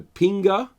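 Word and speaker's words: kpinga: called the the the pinga I believe it's how it's pronounced although it has like a silent k in it um really weird weapon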